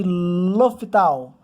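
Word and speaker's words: L'Hôpital: Essa é a nossa terceira videoaula com o tópico regra de L'Hopital. Se escreve L'Hospital, mas falamos L'Hopital.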